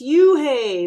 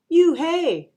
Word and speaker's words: Unhei: corrected it's spelled u-n-h-e-i it's pronounced oh it's you hey the boy said like you hey what about hey you